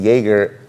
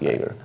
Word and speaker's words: Jaeger: Jaeger by the way you pronounce the brand like Jagermeister like the drink I pronounce it Jaeger you'll see you're going